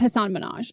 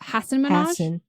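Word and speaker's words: Hasan Minhaj: right the first time it's not Hassan Minaj it's Hass Minaj Hass okay minhaj yeah minhaj okay and on September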